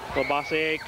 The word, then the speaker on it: Labasse: Sassy and Labasse conferring over there on the sideline. So that's the real Canadian pronunciation, Labasse.